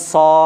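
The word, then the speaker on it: صاد: আবার শোনেন, সিটি দিয়ে আওয়াজটা শুরু হবে, মুখটা গোল করে, জিভের আগা নিচের দাঁতের আগায় লাগবে, উচ্চারণটাকে লম্বা করতে হবে, সর্বশেষে একটা দয়ে হসন্তর উচ্চারণ আনতে হবে।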